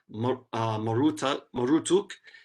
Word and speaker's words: Marduk: They say produced, his name is to be pronounced Marutuk, and means immortal son of Utu, or bull calf of the sun god Utu, right?